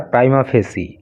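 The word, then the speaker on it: prima facie: प्राइमा फेसी ई, इसका pronunciation होता है प्राइमा फेसी, और इसका हिंदी में अर्थ होता है प्रथम दृष्टया।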